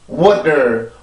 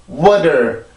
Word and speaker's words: water: 그럼 T까지 발음을 하죠. water, water.